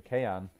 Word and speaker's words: Kean: They might have sold Moise Kean, to be honest, for Kean. That's the correct pronunciation.